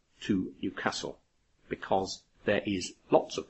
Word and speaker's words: Newcastle: Now, you will hear many English people pronounce the name of the city in the northeast of England, Newcastle. But the people who live there say Newcastle.